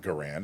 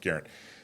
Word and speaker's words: Garand: Garand, which he found out through his research is not Garand. It's actually pronounced Garand.